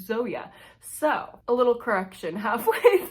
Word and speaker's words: Zoje: 25 into mothered by zoeia stage by the way I learned how to pronounce though you stage's name and it's not Zoe it is Zoya so a little correction